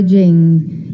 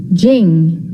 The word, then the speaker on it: Ching: attributed to laotzer known as the Dao de Jing has become one of the most sacred works